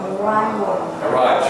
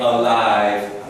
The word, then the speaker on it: arrive: Arrive. Try to fight off saying alive.